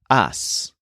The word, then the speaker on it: has: so his conjugation starts with ah and it's pronounced ass spelled h a s as usual it ends